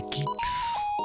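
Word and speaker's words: Qix: famoso o popular fue el de kicks lanzó en 1981 que q i x Así es como se escribe q x k y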